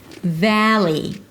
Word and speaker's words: Valley: The first syllable is the /a/ as in cat, don't swallow it. Valli Valli. Va-lee, Va-lee, Si-li-kaan Va-lee.